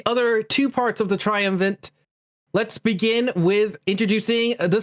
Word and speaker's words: triumvirate: They keep thinking you're trying to say triumphant. It's triumvirate. That's what I said. Maybe it's just a pronunciation thing.